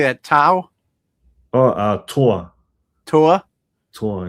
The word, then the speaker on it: Toa: what is How do you How do you pronounce it? Uh, it's t o a. What How do you say that? Tau?